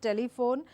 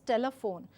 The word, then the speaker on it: telephone: So when I say unstressed, I cannot give this word pronunciation as telephone, instead it becomes telephone. So that's the right pronunciation of this word, and like I